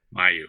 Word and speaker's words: Mayeux: It's Mayeux. Am I pronouncing that right? No. You are. Miracle. Mayeux? Miracle. Mayeux. Mayeux, yes.